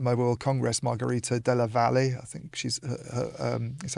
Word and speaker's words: Valle: Margarita Della Valle, I think she's is how you pronounce it. Yeah, probably not because it's not Spanish. It'd be Valle if it was Spanish.